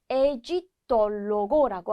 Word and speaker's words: egittologo: 자, 그 다음에 이집트 학자를 에지톨로고라고 합니다. 이렇게 올로고가 붙어 있는 곳은 오 발음이 어 발음으로 나게 돼요. 그래서 에지톨로고 같이 발음해 볼게요.